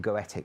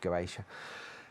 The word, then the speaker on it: Goetia: I always call them Goetic, but it's pronounced Goetia.